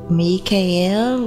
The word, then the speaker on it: Michael: so we're called upon Archangel Michael meek al if you would like to pronounce that he asked the correct way and now we're going